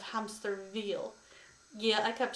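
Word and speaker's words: Hämsterviel: His name is usually mispronounced, much to charge, usually as hamster wheel instead of hamster veal.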